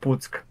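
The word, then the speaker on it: Puck: pu P yeah p u c k it's pronounced psk uh in Polish yeah and they had like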